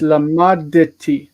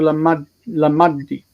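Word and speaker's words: לָמַדְתִּי: And if you don't pronounce that shva, you will lose one of the letters. You'll either say lamadti with a T or lamaddi with a D.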